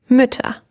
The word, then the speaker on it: Mütter: And in the plural, we have Mütter with the umlaut.